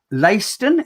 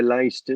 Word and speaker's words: Leicester: the 24th of september layston is that how you pronounce it yeah yeah leicester yep that's correct mate great impressionist the